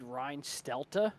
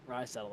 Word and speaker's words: Reinstedel: So I'm pretty sure I said Reinstelta, like it was German. And then everyone after the race said, yeah, no, absolutely not. You completely whiffed on that one. And lo and behold, they said, yeah, it's Reinstettel.